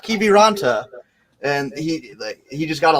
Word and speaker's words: Kiviranta: Like he was like Kiverlanda, not Kiviranta.